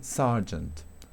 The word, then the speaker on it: sergeant: O cuando tengo la ER en una sílaba con acento, solamente en esta palabra, esto es muy inusual, ¿sí? Sergeant, sergeant, ¿ok?